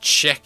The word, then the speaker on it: Czech: it much better member it's pronounced check here thank you check check